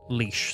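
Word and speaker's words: Laois: read the word leash cuz most people will see the spelling of leash leash is awes another area in Ireland and most people read it as like La I think the way it's spelled it's like LA but uh it's leash so I think I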